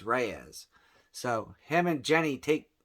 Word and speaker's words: Reyes: something like that Reyes I always thought it was Rey's because you don't hear it pronounced when you're reading comic books but it's Reyes so him and Jenny